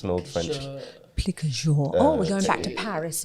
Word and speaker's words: plique à jour: Plique à jour. We're going back to Paris and Paul. Paul, would you like to pronounce that in the proper Parisian way?